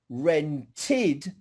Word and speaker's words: rented: do heard a syllable rent is one syllable rented is two syllables rented okay tit yes okay